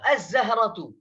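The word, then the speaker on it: الزهرة: बहरहाल, तो अज़्ज़हरतु, तो यहाँ पर जा जो है हुरूफ शमसी में से है, इसलिए लाम को साइलेंट पढ़ा जा रहा है।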